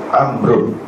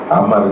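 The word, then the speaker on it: عمرو: Amrun, Amrun. Amar ni Amrun lah. Kalau orang Arab sebut, dia sebut begitulah, Amrun. Kalau dia matikan di belakang dia tu Amar.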